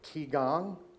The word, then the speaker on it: Qigong: Okay, so today we have, I hope I pronounced this right, Qigong, is that correct?